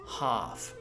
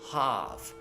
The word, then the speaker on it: half: about the L sound it is written but you don't have to pronounce it so the right pronunciation is half just half the directors have arrived